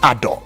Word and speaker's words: Ado: to you right honorable you taught me the pronunciation of that one Ador right right now this was disclosed uh to